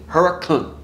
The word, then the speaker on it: Hurricane: of here called hurricane yes it is spelled hurricane but you say that to the locals and they are going to laugh in your face so it is Huracan just like Knoxville is